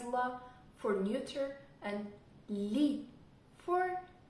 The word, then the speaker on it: ло: L for masculine, la for feminine, lo, which is pronounced again as la, for neuter, and li for plural.